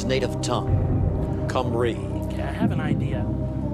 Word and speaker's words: Cymru: What country is known as Cymru to those who speak its native tongue? Romania, Scotland, Albania, Wales. You say that again. What country is known as Cymru to those who speak its native tongue? Cymru.